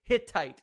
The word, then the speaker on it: Hittite: fittest sight hit type thank you lady ferry Hittite is how you say that word flaafy points